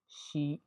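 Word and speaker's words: Xi: का नाम सुना होगा शी जिन पि एक् अक्सर उसको य बोलते हैं आज के बाद आप उसको सही तरीके से प्रोनाउंस करेंगे किस तरह शी ी इसी तरह एक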